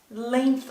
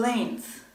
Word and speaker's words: length: This snake is very long it's about 1 meter in length. Remember, the G in length is silent.